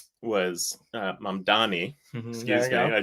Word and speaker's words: Mamdani: One of the things that I thought was awesome about their commonality was Mandami was uh was uh Mandani, excuse me, I said it wrong was uh speaking to voters in Queens in particular.